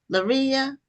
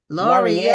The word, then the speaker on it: Laurier: Now, your last name is pronounced uh is it pronounced Laria? Laurier. Laurier. I was way way off.